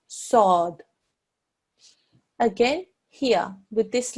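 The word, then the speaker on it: ص: ah and a sound sword there is no wow in there whatsoever so it's quite important that you don't introduce a wow sound into it you mustn't say swad the Arabic pronunciation is sword again here with this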